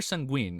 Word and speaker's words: Sanguine: Is it Sungwen or Sanguine? How do you say it? Sungwen, I right? say Sanguine? sanguine. Okay, I was saying sanguine, and then all people were making fun of me because it sounded like a French pronunciation, like a linguine or like food. And I'm like, all right, I'll just say sanguine for now.